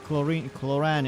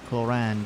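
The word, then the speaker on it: Clorinde: I always call it chlorine. It's much more easier for me to call it chlorine than chloran, but the pronunciation is chloran because the I is an A instead of an I.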